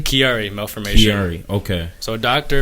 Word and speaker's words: Chiari malformation: you went through with your, how do you pronounce that? Chiari malformation? Chiari malformation.